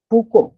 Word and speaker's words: Foucault: जैसे बात अगर करते हैं हम, एक जो है प्रसिद्ध साहित्यकार है फूको, हिंदी में आप लिख रहे हो फूको, लेकिन उनके अगर अंग्रेजी के स्पेलिंग आप देखो तो FOUCAULT ये आपको मिलेंगे।